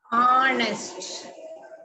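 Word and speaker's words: honest: H silent ஹானஸ்ட் இந்த ஹச் இல்லன்னு நினைச்சுட்டு படிக்கணும் ஹானஸ்ட் ஹானஸ்ட் ஹானஸ்ட் நேர்மையாக உண்மையாக நேர்மையாக நேர்மையாக இது ரொம்ப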